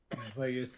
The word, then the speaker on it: Plagueis: Oh, by the way, I just bought the novel Darth Plagueis. Is that how you say his name? Plagueis, yes. Plagueis.